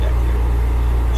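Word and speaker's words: Vaquer: How do you pronounce her name? Vaker. Vaker. Vakier. That's her name. Vakier.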